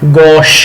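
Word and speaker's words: gauche: गॉश, very beautiful word, इसकी pronunciation है गॉश, GAUCH, गॉश।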